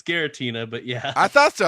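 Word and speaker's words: Giratina: then take a five is Reggie Tina they spell it wrong here it's it's Gera Tina but yeah I thought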